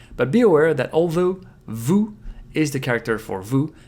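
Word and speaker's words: ヴ: So for example, here we have u, and you put the dakuten and it becomes vu, a V sound. Though for some Japanese people it's very difficult to pronounce, so they'll keep it like bu.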